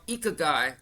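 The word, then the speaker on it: ikigai: The other thing I want to mention about Japan is that they have this uh concept of called ikagai. That's how it's pronounced but it's called spelled i k i g ai.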